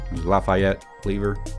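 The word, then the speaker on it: Lafayette Lever: previous video user subscriber corrected me on how to say his name Lafayette livre not fat lever although the carts had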